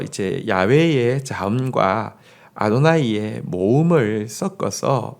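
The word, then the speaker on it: 야훼: 이십니다 한편 저 이게 여호와 라고 되어있는데요 음 여호와 라는 것은 이스트 나는 스스로 있는 자니라 예 정확한 발음은 아닙니다 어이 발음은 정확한 발음은 야외에 가까웠을 것이라고 어학 짜 들은 이야기 합니다 야외 웬 대에 근데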